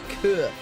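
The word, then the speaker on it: cœur: It's almost like, I think it's the French word for heart is also spelt similarly. It's que. French for heart. Yeah, it's C-O-E-U-R.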